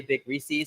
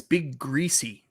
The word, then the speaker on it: Big Greasy: B, But you yeah, said for- you said his channel name wrong. It's Big Greasy.